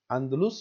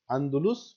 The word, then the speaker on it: اندلس: کو کہتے کیا ہیں۔ اس کا صحیح تلفظ جو ہے دو طرح سے، جیسے میں نے آپ کو بتا دیا ہے، اندلس یعنی الف پر زبر کے ساتھ، اور دوسرا الف پر پیش کے ساتھ۔ اندلس اور اندلس دونوں